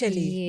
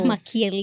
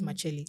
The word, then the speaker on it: Makyeli: But I would want to know how your second name is pronounced. Makyeli. Makyeli. Yes. So, Not Makyeli. Not No. Makyeli. It's Makyeli.